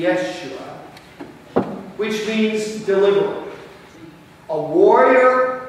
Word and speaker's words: Yeshua: and it is jesus now if you and i were to say this in hebrew we wouldn't say jesus we would say what sounds a little like a funny way to pronounce joshua because they are in fact one in the same name it would be yeshua which means deliberate a